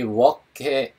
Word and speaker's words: walk: 이 walk의 L이 발음이 안 나는 묵음이라고 말씀드렸습니다. walk 아니고 walk.